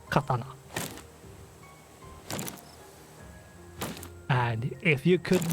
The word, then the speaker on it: katana: are a lot harder Katana for example is incorrectly pronounced by many English speaking speakers and it's a fairly small difference in pronunciation mostly what English speakers says is Katana which is not correct the correct one is Katana and if you could